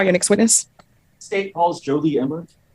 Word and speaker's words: Jolie Imler: If you'll state your name and spell it, please. Jolie Imler, Jolieimler.